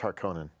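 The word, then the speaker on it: Harkonnen: haran right the atries they call it Harkin in the movie but that's wrong it's harkonen yeah because you can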